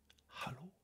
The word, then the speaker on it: Hallo: français on l'entend pas le H il est aspiré ici il n'est pas aspiré il est poussé on fait hallô on s l'air à l'extérieur hallô comme en anglais Hello on dit hallô mais